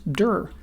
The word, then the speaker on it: dir: can use the built-in diir function, which I often pronounce dur. Every object in Python can be passed to the built-in dur function to see the attributes that object has.